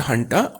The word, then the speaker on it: junta: यहाँ पर JUNTA is pronounced हंटा, और आप इसे हिंदी शब्द जनता से जोड़ करके देख सकते हैं।